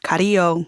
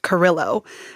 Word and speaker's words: Carrillo: So instead of Carrillo, it's Carrillo. And that's how I pronounce my last name now. And I can't even really say it the correct way, which is really sad.